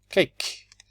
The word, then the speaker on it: cake: So this is cake. The E changes the sound of the A and it makes it A.